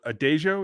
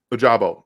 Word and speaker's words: Ojabo: edge from michigan is it uh is it a dejo is that how you say it ojabo david so he's right now it's been reported